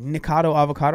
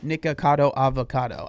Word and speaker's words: Nikocado Avocado: makes sense I I when people like struggle to say it they're like nikado avocado I'm like dude it's it's literally nikocado avocado I feel like it